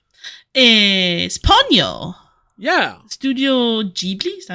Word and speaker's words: Ghibli: Studio Ghibli, is that how you say it?